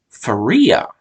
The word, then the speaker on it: Fariah: When I see the name, it looks like it's pronounced Faria, but I think they were pronouncing it. Yeah, I'm pretty sure everyone pronounced this name Faria. But so her name is spelled Fariah. Fariah. So I think they were saying Faria, but it looks